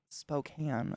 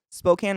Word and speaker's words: Spokane: I know that the way people pronounce it wrong is they say Spokane.